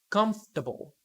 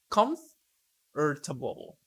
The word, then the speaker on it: comfortable: a listen and practice the vowel immediately after a stressed syllable is sometimes not pronounced average different separate comfortable